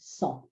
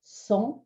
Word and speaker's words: cent: Cent is pronounced without a T at the end. Cent. So when you hear it, when you see it, you might expect the T to be pronounced, but it's a silent T.